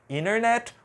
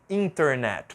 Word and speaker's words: internet: quiser tá bom então vai estar certo tanto internet como a outra opção internet pronunciando t alr e aqui a última